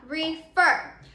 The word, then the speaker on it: refer: So for example, if you look at the word refer, let's say that word out loud, refer. So our accent is on the last syllable of refer.